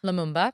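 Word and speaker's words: Lumumba: Because he didn't Patrick, I don't want to say his last name wrong. Leumba. Leamumba.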